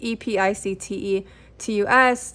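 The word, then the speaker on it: Epictetus: happiness and Effectiveness and this name I always pronounce it wrong but it's EP pic te T us like you know stoic philosophy this is like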